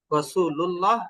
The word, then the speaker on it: রাসূলুল্লাহ: তো আল্লাহ রাসূলের ক্ষেত্রে আপনি উচ্চারগণটা রাসূুল্লাহ বলে উচ্চারণ করবেন।